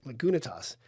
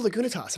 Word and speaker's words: Lagunitas: I remember someone from the Midwest calling it “Lagunatas,” and I’m like, what are we talking about? They’re like, “Let’s have a Lagunitas.”